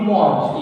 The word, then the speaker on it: mange: So manger, you use je mange, tu mange. Yeah. But you are not pronouncing mange. Yeah. You are pronouncing something else.